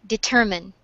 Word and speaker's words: determine: Determine. Determine. Determine. Mm-hmm. Determine. Where is the stress? Uh, in the second E.